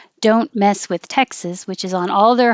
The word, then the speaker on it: Texas: Oh, Texas is Texas. Sis. Sorry about that. Texas has the vowel. As in head, and also like mess. So if you say don't mess with Texas, which is on all